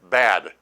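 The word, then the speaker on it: בד: We would pronounce the word in English bad.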